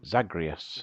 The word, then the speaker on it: Zagreus: Zagreus.